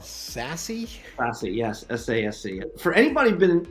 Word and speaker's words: SASE: Am I pronouncing it right? It's called SASE? SASE, yes, SASE.